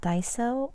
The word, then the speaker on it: Daiso: Okay, so the first few that I want to share that I bought from the store called Daiso. It is spelled D-A-I-S-O.